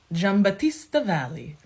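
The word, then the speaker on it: Giambattista Valli: very fun feminine flirty Vibe J hang on jamb Batista Valley that's how the man on YouTube told me to pronounce that any of his spring 2023 collection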